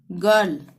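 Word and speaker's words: girl: का ही प्रयोग करेंगे, यानी ग का ही उच्चारण होगा यहाँ पे, ठीक है, ये एक्सेप्शन है। गिव, गेट, गर्ल, चाहे आई आ रहा हो चाहे ई आ रहा हो, यहाँ पे ग का ही उच्चारण होगा।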